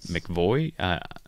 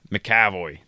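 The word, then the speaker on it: McAvoy: in the newer x-men elroy mcvoy something like that the cowboy mccavoy that's why there's an extra syllable so he plays the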